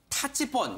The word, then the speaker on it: 타치폰: 일명 타치폰, 이 발음이 중요합니다.